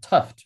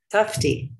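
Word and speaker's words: Tufte: aiga and workshops with edward tuft her design guru am i pronouncing that right tufty yeah yeah excellent and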